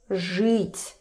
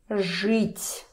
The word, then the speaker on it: жить: For example, žít, to live, žít. Even if we see this E here, ž won't budge. Ž is always hard. Žít, žít.